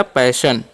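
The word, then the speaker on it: passion: अब लिखा PASSIN, तो P का उच्चारण प, ए का उच्चारण ए करना है, डबल एस का श, और OIN रहेगा ना तो उसका उच्चारण OI का अन ही कर देना है, ठीक है। तो क्या हो गया, पैशन।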